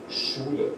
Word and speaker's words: Schule: Schule, school, and it's basically pronounced like SH, Schule, school, Schule.